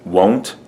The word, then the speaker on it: won't: she won't drive Etc the word won't of course is different from the word want sometimes I've heard students confuse these two in the pronunciation so this is won't and this is want to